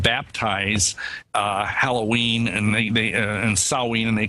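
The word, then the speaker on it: Samhain: a IM but when you say it as sewing and yeah that's the that's the ancient ancestor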